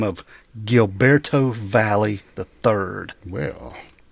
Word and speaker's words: Valle: Valier V. But I saw an interview with his attorney and she pronounced it valley.